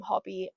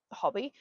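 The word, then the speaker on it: Hobbii: As an English person, I'd probably just call them Hobby, but I think they are from Denmark. Correct me if I'm wrong. I think they're from Denmark, and I've heard someone pronounce it Hobie, so that's what I'm going to be saying.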